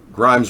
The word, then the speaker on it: Grimes: Grimes rhymes with grime.